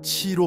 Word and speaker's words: 기: 기는 치로 발음합니다.